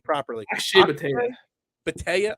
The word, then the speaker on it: Bhatia: Akshay Bhatia. Bhatia. I always want to say Badia, but Bhatia.